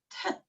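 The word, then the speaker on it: טית: 그 다음 마지막으로 타브하고 테트인데 둘 다 T 사운드를 내는데 사실 테트는 타브보다는 깊은 소리, 즉 호음처럼 밑에 점을 가지고 있거든요. 그래서 텟, 텟, 얘는 타브, 타브 그런 차이를 가지고 있습니다.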